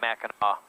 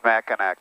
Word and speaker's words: Mackinac: you say you say it you say it Mackinac it's pronounced back and I'll do that everybody it's not mac and act don't listen to me it's gonna and by